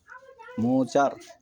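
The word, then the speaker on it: মুদার: শাস্তি কঠোর করে দাও, মুচার। বুখারী শরীফের হাদিস। পৃথিবীর বুকে আসমানের নিচে কোরআনের পরে সর্বশ্রেষ্ঠ হাদিস গ্রন্থ হচ্ছে সহিহ বুখারী শরীফ। মুচার এটি একটি আরবি উচ্চারণ, একটি গোত্রের নাম, এবং এই উচ্চারণই মুচার। এটির অর্থ হবে না, এটি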